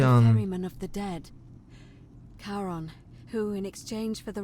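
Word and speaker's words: Charon: is a little off the name you heard wasn't karen it was c-h-a-r oh cherry on cameraman of the dead karon who in exchange for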